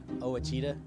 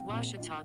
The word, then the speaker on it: Ouachita: ouachita sports digital network i've heard people say oh a cheetah oh wish tall oh a cheetah is it pronounced oh akita searching for washi at a baptist university back in texas everybody pronounces it wichita but really it's ouachita washington washington how would